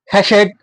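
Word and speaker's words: חסד: ठीक है, the Hebrew word हैशेड is pronounced हैशेड has many meaning.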